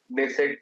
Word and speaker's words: Knesset: That is speaker of नेसेट medal. जैसे हमारे India में लोकसभा होती है ना, ऐसे ही इसराइल में जो उनका हाउस होता है उसको निसेट बोलते हैं, इसमें के साइलेंट होता है, राइट.